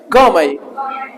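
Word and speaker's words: gourmet: उसको क्या बोलेंगे आपके गमई गमे टी साइलेंट टेंस ठीक है सर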